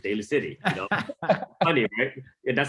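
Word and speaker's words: Daly City: to pronounce the city they call it valley city you know but it's daily city you know funny that's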